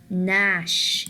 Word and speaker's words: gnash: Also, we have the word gnash.